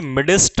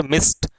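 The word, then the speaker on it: midst: इस मिस्ट का मतलब होता है बीच में, और ये मिडिस्ट नहीं है, मिडिस्ट, मिडिस्ट नहीं बोलना इसको, इट इज कॉल्ड मिस्ट। ये जो डी है ये एक तरीके से म्यूट है, साइलेंट रहेगा ये यहाँ पे।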